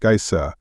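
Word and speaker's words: Geysir: the waters the Gea a word the icelanders pronounced Gea and which signifies Fury Rose majestically from its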